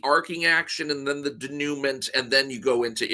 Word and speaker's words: denouement: Okay, am I pronouncing denouement wrong? It's denouement.